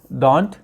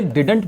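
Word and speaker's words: didn't: अच्छा, कुछ लोग इसे डिडंट बोलते हैं, डिडंट, लेकिन इसका प्रोनाउंसिएशन डिंट होता है, जैसे DINT, बिल्कुल इस तरीके से हम लोग इसे डिंट बोलते हैं।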